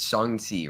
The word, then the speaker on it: Shang-Chi: so it's it's it's shangti right that's how you pronounce it song c yeah it's not a uh it's not an americanized a sound right yes and i